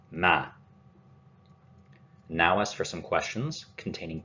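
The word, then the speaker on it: مَن: Man, corresponding to who or whom, and note that there is a fatha on man.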